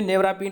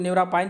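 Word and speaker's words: Nevirapine: ये हिंदी इंग्लिश में नेवरापिन पढ़ा जाता है, कोई लोग नेवरापाइन भी पढ़ते हैं, तो इसे स्पेलिंग पे ध्यान रखिए।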